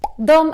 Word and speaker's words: de: Dom äter pasta. They eat pasta. It's written like this, but it's always pronounced as dom.